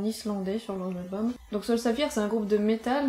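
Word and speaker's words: Sólstafir: Alors en vrai ça se prononce Sol Staffir et ça se prononce Bled Bled.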